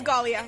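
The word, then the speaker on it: Ghalia: My name is Galia. Galia, spell that for me if you would.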